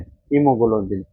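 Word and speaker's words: haemoglobin: इसमें ए साइलेंट है क्या? हीोग्लोबिन है। क्या है? हीमोग्लोबिन। तो हीमोग्लोबिन का ही बार रक्त को दर्शाता है और खून की बीमारियों का अध्ययन को दर्शाता है। यह याद हो गया। इसकी स्पेलिंग कई बार पूछ ली जाती है। हाईमोग्लोबिन क्या होती है? एच ए इमो ही एच ए ही इसमें इ क्या है? साइलेंट है। क्या है? साइलेंट है। याद कर लो।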